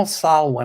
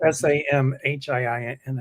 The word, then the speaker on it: Samhain: But I know Salwin, I think I'm pronouncing it right. It's not spelled that way. Samhain. Samhain, yes. Well, Samhiin, I think Samhain.